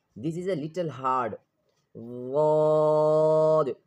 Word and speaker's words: ضاد: ضاد. This is also a heavy letter, and this is pronounced from one side of the tongue. Listen carefully. From one side of the tongue touching the upper back teeth.